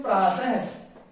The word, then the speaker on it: प्रातः: इसके उच्चारण में है की ध्वनि निकलती है। जैसे जैसे जैसे में देखते हैं हम प्रातः, जैसे ये शब्द है प्रात, ये शब्द क्या है?